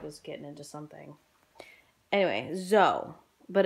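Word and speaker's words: Soel: And her name is pronounced Zoe. Kodo. My dog is getting into something. Anyway, Zoe. But it's spelled S-O-E-L. And she told me it was pronounced Zoe, like Z-O-E.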